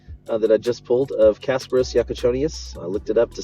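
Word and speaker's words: Kasparas Jakučionis: We're back over here on the Top Shot side on this number 65 of 129 that I just pulled of Kasparos Yakachonius.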